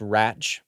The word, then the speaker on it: Radch: the table um and I believe it's pronounced ratch by the way U but oh